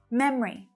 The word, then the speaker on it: memory: Memory. So like favorite, both types of pronunciation are common.